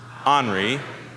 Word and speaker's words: ornery: And the word is ornery, which can also be pronounced ornery.